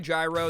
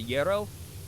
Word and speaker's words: gyro: Uh if you can get a Don't let anyone call them a gyro. They do it there because it's like, "Aha, that's how it's spelled." And we New York City, baby. But let's We got to be respectful to the immigrants there. It's a It's a euro.